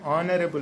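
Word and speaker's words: honourable: उसके बावजूद भी हम चूंकि उसको बोलने में ऑनरेबल बोल रहे हैं, इसलिए बोलने की तरफ जाइए, यानी उसके प्रोनाउंसिएशन की तरफ जाइए, स्पेलिंग की तरफ मत जाइए।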